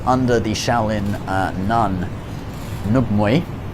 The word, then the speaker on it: Ng Mui: And so, this style was developed uh she she trained under the Shaolin uh nun, Ng Mui. Uh that's the name uh the Cantonese pronunciation.